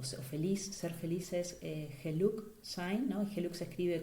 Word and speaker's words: geluk: Aquí en Holanda el término para referirse a felicidad es, o feliz, ser feliz es geluk sein, ¿no? Geluk se escribe con G-E-L-U-K y tiene una doble acepción, que es fortuna y es felicidad.